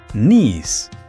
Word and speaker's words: knees: Y la K al principio de la palabra es completamente muda, como un fantasma, así que se pronuncia knees.